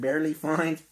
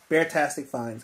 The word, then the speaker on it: Beartastic Finds: told him last time i said the name wrong i think i told him i said barely find but beartastic finds guys beartastic fine so if y'all want to